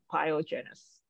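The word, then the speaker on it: pyogenes: iene yep biogenesis so this is actually a Latin name right so we pronounce every word so pyogenous yeah and and the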